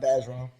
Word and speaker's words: Bergeron: I'm not, and it's pronounced Bergeron.